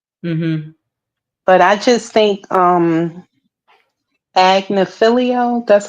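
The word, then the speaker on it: Agnifilo: But I just think Agnafilio, that's how you say his name.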